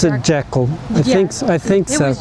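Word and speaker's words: Jekyll: It's like Jackal. Yeah, Mr. I think she did pronounce it Jackal.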